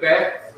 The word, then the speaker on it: Beth: Beth, which is pronounced Beth because it has a dot in the middle of the letter, has a B sound. Book, as in boy. Book, as in beautiful. Book, as in beach.